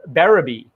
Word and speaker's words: Berube: going with niche and you went with beraby the pronunciation my last name kudos to you thank you i know